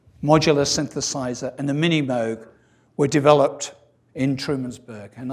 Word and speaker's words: Moog: on his desk about moog rhymes with rogue not moog rhymes with fugue so he really didn't